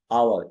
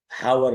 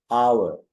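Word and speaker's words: hour: आवर, इसमें H silent है, हावर नहीं है, हाँ नहीं, आवर।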